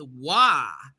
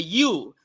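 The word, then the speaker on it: waw: The next letter is wa. It's a wa. Some people say, oh, it's a W. It's a W. And then they go, ooh, like a U. But no, it's not a U. It's a wa, and it makes the W sound wa.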